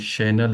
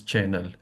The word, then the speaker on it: Chanel: My Yes, mother-in-law called Chanel as channel, and I yes, have